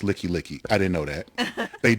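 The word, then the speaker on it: Likelike: highway come get me well it's pronounced licky licky i didn't know that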